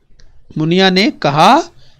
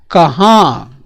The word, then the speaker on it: कहाँ: कहाँ। उच्चारण देखिए, यहाँ पर ऊपर क्या है? चंद्रबिंदु है, कहाँ। और ये क्या है बच्चों? कहा। तो ऊपर चंद्रबिंदु नहीं है, तो ये देखिए दोनों में अंतर जरा ध्यान से समझिए।